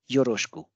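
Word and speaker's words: よろしく: appears in between them as per rule one e sound will get divised and we have yoroshko euroscope next is squishy squishy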